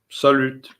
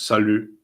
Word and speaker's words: salut: R confuses me um salute actually wouldn't be in in French it's without the e at the end so it's Sal because obviously you don't read the T if there there isn't an e after it in French why not um when